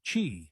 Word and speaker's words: Qi: The most common standard is Qi, pronounced Qi, which is supported by most modern smartphones, wireless earbuds, and even electric toothbrushes.